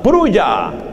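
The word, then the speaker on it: Prouille: El escenario es una pequeña población llamada Pruya. Se escribe con doble L.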